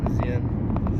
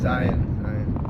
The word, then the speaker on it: Zion: colder up in Z zen zen that's not even how they say it I know I don't know I can't say it right uh Z Zion Zion that's the local way of saying it apparently the Utah accent yeah but it should